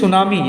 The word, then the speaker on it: tsunami: This is tsunami. As I said, when the earthquake is underneath the surface of the sea, then that is known as tsunami. T-S-U-N-A-M-I. T-S-U. It starts with T.